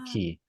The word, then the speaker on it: Qi: call it the fleet key key is spelled Qi because we're redefining what a